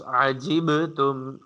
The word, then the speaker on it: عجبتم: أوعجبتم أن عجب عين should be clear, and you have to pronounce عجبتم. You have to pronounce qalqala here.